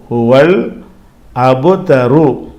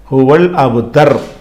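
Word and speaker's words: هو الأبتر: ரூனா அப்ப அல் அபுதரு ஹுவல் அபுதரு அபுதருன்னு சொல்லக்கூடாது. இது சூரா முடிக்கிறதுனால இதோட இந்த ஆயத் முடிஞ்சு போறதுனால நிறுத்தி நிறுத்திரணும். ஹுவல் அபுத்தர் அப்ப இந்த சூரா வந்து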